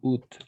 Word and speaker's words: août: Le 6 août, en effet, on va prononcer août, tout simplement, le 6 août.